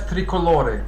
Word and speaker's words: tricolore: Yeah, in English you say tricolour, but in Italian it's tricolore.